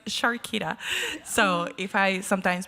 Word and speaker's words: Sharkita: And I've been calling her Charquita, and it was like, well, that sounds cute too, but it's Shakira.